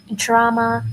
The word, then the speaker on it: drama: of prose are novel, drama, and short story. And I have told you how to pronounce these things, right? We said DR, we say j, نقول drama and not drama, okay?